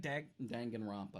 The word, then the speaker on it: Danganronpa: Danganronpa.